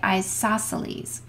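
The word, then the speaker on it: isosceles: same length ioses triangle when I'm trying to spell that I always spell it isos celes but when when I say it we say isoceles saying it correctly makes you sound like you know what you're talking about in an isoceles triangle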